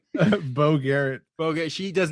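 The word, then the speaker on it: Beau: looked at her name it's spelled b e Au I'm sorry B auau so I've I've always is that's Bo right that's Bo yeah Bo that's Bo okay I mean maybe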